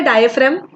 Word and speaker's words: diaphragm: उसका स्पेलिंग बहुत अलग है, बोलते बहुत अलग है, समझ रहा है? डायफ्राम, यस यस yes, good.